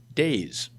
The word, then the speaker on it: DAIS: the organization goes by its acronym d-a-i-s which is pronounced days shannon has worked as